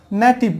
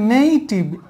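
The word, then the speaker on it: native: দিই যেমন এখানে দেখো এটা আমরা বলি নেটিভ বাট এটা হবে নেইটিভ এই এর উচ্চারণ হচ্ছে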